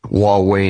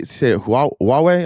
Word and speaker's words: Huawei: Huawei and Xiaomi are in every car.